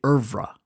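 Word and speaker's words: oeuvre: Number 10: Ouevre. Isn't that a cool word? Americans say er-vrah.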